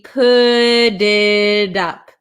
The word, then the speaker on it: put it up: So this when we have a T sandwiched between two vowels, a lot of the times in American English, it's going to turn into a flap T, which sounds like a D.